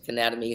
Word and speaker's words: Cannademy: It's like Academy, but Cannademy, Cannademy.